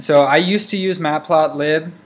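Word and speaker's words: matplotlib: I used to use matplot lib or matplot live as people pronounce it but uh I kind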